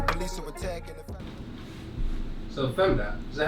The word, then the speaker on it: femdot: So femdot, is that how you pronounce it?